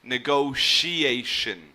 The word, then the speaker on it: negotiation: in the middle negotiation or you would hear it with like an SH sound negotiation okay so I find